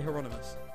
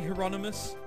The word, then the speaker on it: Hieronymus: hieronymus yeah here on of us I say hieronymus because that's how you do pronounce it cuz it's English or as ever